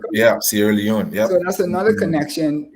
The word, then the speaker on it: Sierra Leone: That's how you pronounce it? Sierra Leone, right? Yeah, Sierra Leone.